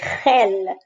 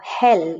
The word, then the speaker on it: gel: In Spain, the pronunciation can be quite throaty, gel, but it doesn't have to be. In Latin America, it is softer, like the English H. And this is absolutely fine. Gel, or hell, it's really like an H.